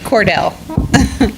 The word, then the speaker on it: Cordill: Well, he pronounces it Cordill. Well, that Cordill with an I.